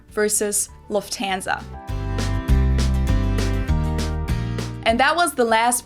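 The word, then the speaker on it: Lufthansa: In English, people usually say Lufanza, but in German, we say Lufanza. So, the emphasis on the first syllable, Lufanza versus Lufanza.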